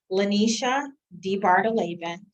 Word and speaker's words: LaNesha DeBardelaben: record will you state your full name and spell it for us absolutely lanisha d bartoleven uh l-a-n-e-s-h-a d-e-b-a-r-g-e-l-a-b-e-n thanks let's begin uh with